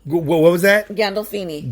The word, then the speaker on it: Gandolfini: name is james um i can never really pronounce the last name correct but we'll go ahead once you try it gandalfini what was that gandolfini gando food no gandolfini i knew you would have some trouble that's